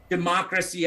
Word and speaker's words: democracy: the word is pronounced democracy as four syllable the stress is falling on the second one so it really breaks